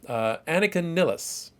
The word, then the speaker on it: Annika Nilles: But the drummer, Annika Nilles, I'm pronouncing it that way because my understanding is she is German.